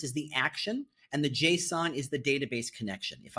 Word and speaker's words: JSON: There is a HTML file, a JS file or a JavaScript file, and a JSON file. And they're always pronounced JSON. It's JSON, not Jason, because that's a name, but JSON.